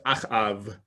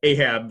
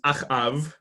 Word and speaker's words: Achav: key figure who is Achav. I just saw somebody reference Moby Dick the other day, and so if you pronounce this guy Ahab, I suppose that's okay too. But in Hebrew, he's Achav.